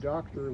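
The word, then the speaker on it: Doktor: my father was Hungarian the name doctor which is spelled D o k t o r which is my last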